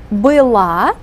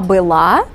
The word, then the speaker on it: была: был, была. And you remember we pronounce this verb form with the accent on the last syllable, la. Она была, оно было, они были.